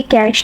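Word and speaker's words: cache: Okay, इसके बाद हमारे पास जो टॉपिक है वो है उसको हम आई एम नॉट रॉन्ग, तो इसको हम प्रोनाउंस करेंगे कैश, ठीक है।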